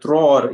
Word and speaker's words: tror: So here the letter O is tror inte, because as you might know, in Swedish the letter O is like the double O. It's like loop or food.